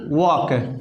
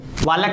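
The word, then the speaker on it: walk: था है वाज टू वक वालक नहीं पढ़ना है वक पढ़ना है एल साइलेंट है कहा कि हम लोग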